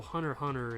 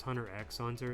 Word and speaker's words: Hunter x Hunter: is like I know Hunter Hunter is it's not pronounced Hunter x Hunter it's what I thought